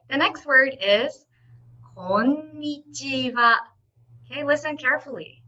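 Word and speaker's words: こんにちは: What you should do is, in Japanese, okay, each syllable is equal length. So if you read it, it's こんにちは. Not like English, where when you read tomato, the middle part is longer, like tomato. It's tomato in Japanese. So remember, every syllable is equally the same, the length.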